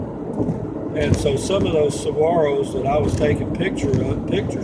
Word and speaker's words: Saguaro: Saguaro. It's pronounced Saguaro. But anyway, those are very fascinating, huge cactus, huge, and they're very old. For a saguaro to grow about 4 feet takes 25 years,